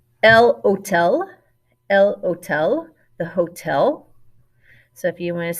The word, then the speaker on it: hotel: hotel el hotel the hotel so if you want to say they are going to the hotel von all hotel hotel remember your h is silent another cognate la